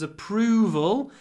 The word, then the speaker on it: approval: remember connected speech boss's approval in approval the stresses on the second syllable so there's no reason